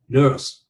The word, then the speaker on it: nurse: y tá, thì chữ này chúng ta nên đọc là nurse.